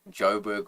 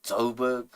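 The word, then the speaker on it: Joburg: Johannesburg uh so we we say Joberg for short and when they pronounce it they say toberg where you from you from like those guys are just uh wannabe gangsters.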